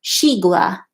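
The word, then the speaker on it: xigua: of the veggies all here's the way it pronounced it Sheila that's the one with the X Sheila is the Chinese name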